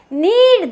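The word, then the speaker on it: knead: उसको हम नीड बोलेंगे नीड में के यहां पर साइलेंट है वो बिल्कुल चुप है तो यहां पर इसके के की आवाज नहीं आएगी इसको हम कनीर नहीं बोलेंगे इसको हम बोलेंगे नीड द डो क्या बोलेंगे नीड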